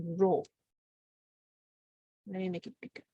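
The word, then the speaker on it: rho: you look at book density is this symbol pronounced as row let me make it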